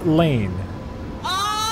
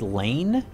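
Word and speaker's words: Lain: Tell Jay to watch Serial Experiments Lane. Never even heard of that. Serial Experiments Lane? And Lane is spelled L-A-I-N.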